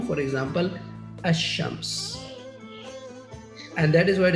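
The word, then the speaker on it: الشمس: While in the sun letters, the lam is assimilated to the first letter of the noun. For example, ash-shams.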